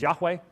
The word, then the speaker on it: Yahweh: of the matter is, if he's Yahweh, Jehovah, as they mispronounce it, that's the end of the debate.